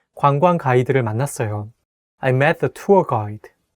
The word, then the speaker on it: 관광: 관광, tour, 관광, tour. It can be the word that is not easy to pronounce because it has two double vowels next to each other.